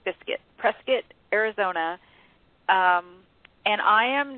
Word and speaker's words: Prescott: they originally um met in a town called Prescott actually it's pronounced presc like biscuit Prescot Arizona um and I am now uh writing